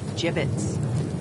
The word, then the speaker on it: gibbets: dead end oh Hey look Avery had some gibbets left over gibbets what it's pronounced jibbets are you sure yeah well no one likes